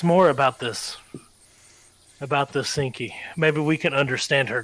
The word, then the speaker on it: Seenki: general like genuine confusion her name's not stinky its sinky Oh sinky oh my